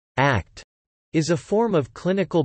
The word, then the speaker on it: ACT: Acceptance and commitment therapy, or ACT, typically pronounced as the word ACT, is a form of clinical behavior analysis CBA used in psychotherapy.